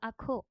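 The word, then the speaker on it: ajo: সেবো সেবুয়া onion ওকে আমরা শিখেছিলাম যে যে থাকলে এটার প্রোনাউন্সিয়টা অনেকটা খ এর মত হবে সো it will B এল আখো বা গার্লিক মানে রসুন এল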